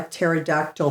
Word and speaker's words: pterodactyl: can't you hear a pterodactyl pee oh I don't know because the p is silent sorry had to do